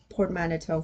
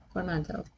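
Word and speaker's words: portmanteau: There's another port manito for you. Hold on. I think I'm mispronouncing that one as well.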